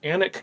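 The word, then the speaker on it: Alnwick: are based off of anik castle it's spelled a-l-n-w-i-c-k anik castle in england and this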